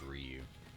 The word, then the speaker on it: Ryu: But let's go ahead and see if we can fight Ryu here, or called him Ryu growing up. I think everybody did, but I think it's actually pronounced Ryu.